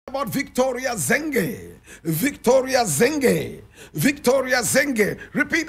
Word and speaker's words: Nonyamezelo: Victoria Nonyamezelo Mxenge. And Nonyamezelo is spelled N-O-N-Y-A-M-E-Z-E-L-O.